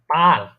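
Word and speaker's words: Paar: যদি মনে করেন আ এ আ যদি দুইবার হয় ঠিক আছে তখন একটু টান দিয়ে উচ্চারণ করবেন যেমন আমি যদি বলি এ আ এর এটা মানে কি পার মানে কি জানেন কাপল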